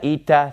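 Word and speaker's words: ήτα: and then have the three that rhyme Zita eita theta all right so that's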